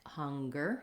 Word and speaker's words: hunger: my online course of which words say NG and G uh like hunger stronger and which say just the NG like singer singing Etc um yes okay